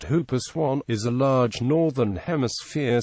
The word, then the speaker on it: whooper swan: The whooper swan, pronounced hooper swan, is a large northern hemisphere swan.